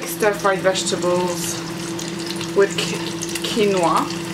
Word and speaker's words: quinoa: And there's some like stir-fried vegetables with quinoa. Quinoa, I said it right, I was going to say quinoa.